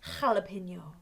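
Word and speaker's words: jalapeño: accent yes that page it's the way we pronounce their J in Spanish so now say hello now say Cala pineal jalapeno so there you go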